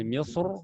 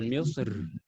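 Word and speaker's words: مصر: misr Bagaimana cara bacanya Boleh misr boleh misir alqitar boleh alqir ya Saya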